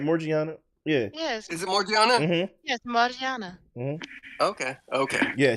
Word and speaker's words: Morgiana: as you continue to read oh yeah yeah Morgana uh yeah no I think it's not that she said it right Morgan yeah yes is it morgiana yes Mariana okay okay yeah she's done I